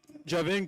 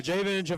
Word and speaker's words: Jayden: Alcoa number two uh Javin Carter sorry for mispronouncing that now Jayden Carter with full rebounds for